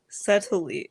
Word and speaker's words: subtly: this is a problem subtle subtly silent subtly no that's not right either oh no subtly yes that's correct REM a try any